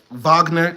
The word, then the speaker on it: Wagner: F soon after 1,500 Wagner ver mercenaries arrived in Mali and French troops and un peacekeepers were rejected by the way I know it's pronounced Vagner I just like saying W it's just funnier still